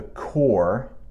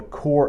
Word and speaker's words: Corps: area often called the Corps yes I know that's not how it looks but I promised that P is silent often called the Corps of Discovery the group